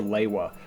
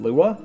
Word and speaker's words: Lewa: Originally, we just called him Lua and then after we watched all the content on the Toa's promotional CDs, that's when we settled on his name being Lewa based on how the narrator pronounced his name, Lewa, Toa of Air.